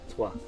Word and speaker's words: trois: Trois. The silent letters in French.